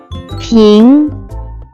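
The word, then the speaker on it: 瓶: Let's move to second character which can be pronounced as ping pronounced with second tone.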